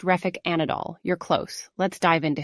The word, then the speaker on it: Refik Anadol: so we'll start with the first one uh refik an Anand um did I pronounce that by the way correctly uh Sam it's pronounced reic anadol you're close let's dive into his piece thank